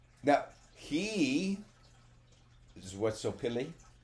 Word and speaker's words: Xochipilli: Well, I mean, because if you think about it, like, now he is Xochipilli. Xochipilli. Social. Exo is pronounced social.